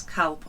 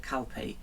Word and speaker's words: Calpe: name of this place, Calp or Calpe. Sometimes it's spelt CALP, and sometimes it has an E on the end of it. Yeah. So we decided to call it Calpe.